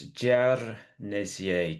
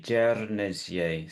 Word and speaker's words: Guernesiais: Yes, so in Guernesiais, the R is pronounced. Some people roll it, some people don't, but it is definitely